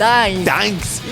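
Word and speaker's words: Gdańsk: Gdansk.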